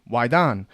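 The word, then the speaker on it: waidan: the external alchemy that is why Don w-a-i-d-a-n wydan it's the external Alchemy to attain immortality through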